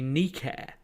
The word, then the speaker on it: Nike: the e and i will continue enjoying my nike trainers funnily enough um as an ancient greek scholar as i am or at least was in my university days the correct pronunciation is actually nikkair because that's the name of the goddess of